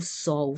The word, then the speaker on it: sol: por do sol ó o sol final L sempre pronunciando a u né nós percorremos todo